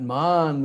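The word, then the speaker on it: मान: We know Man, like Manadena. That's with a short A. Means to give respect, Manadena. But Man with a long A means you take a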